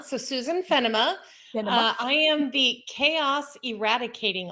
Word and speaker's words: Fennema: let's definitely of course so um it is pronounced fenima so susan fenima i am the chaos eradicating officer that's ceo